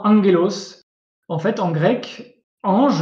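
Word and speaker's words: ἄγγελος: Devant ces 4 lettres, en fait, le gamma se prononce N. Donc comme dans angelos, en fait, en grec,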